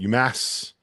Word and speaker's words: UMass: going to go with UMass or as uh Goodman likes to call it UMass that's how you say it I mean that's yeah you're supposed to say it that way if you go up there that's how everybody says it I don't think